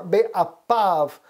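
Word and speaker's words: באפיו: See, the be'af or be'apav. We pronounce it with a P sound there, but af is the nose.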